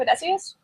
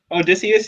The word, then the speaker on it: Odysseus: And our man, how do I properly say his name? Odysseus. Odysseus, yeah, Odysseus.